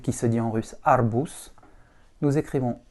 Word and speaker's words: арбуз: Comme dans arbus, le Z se retrouve en finale, on va prononcer le Z non voisé. Et donc un Z non voisé, ça devient un S. Donc on dit bien arbus et non arbuz.